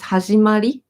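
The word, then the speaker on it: はじまり: In the proper way, the proper way to say start is hajimari, but she says hajimarinrin because she just wants to make the word a little bit cuter.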